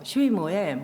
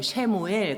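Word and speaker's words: שמואל: 사무엘 그대로 이제 발음하면 히브리어가 되는데요. 슈이무엘, 쉐무엘 그렇게도 발음을 합니다.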